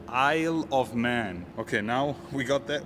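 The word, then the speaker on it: Isle of Man: Please forgive me if I pronounce it wrong, but it's called Eyle of Man Green. It's not called I Love Man, it's called Eyle of Man.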